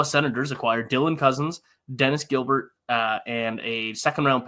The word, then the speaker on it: Gilbert: we get into it is it Dennis gilar or is it Gilbert uh it's Gilbert okay that's what I thought I wasn't sure um if it had the French pronunciation on so I mean